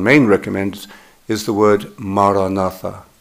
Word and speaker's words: maranatha: You should say it as four syllables, ma, ra, na, tha. 예를 들어 마라나타라 하면 네 개의 음절로 모음이 네 개죠, 마라나타.